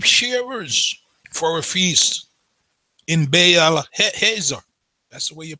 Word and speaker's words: Baal Hazor: Absalom, with his sheep shearers for a feast in Baal Hazor. That's the way you pronounce that word. Baal Hazor.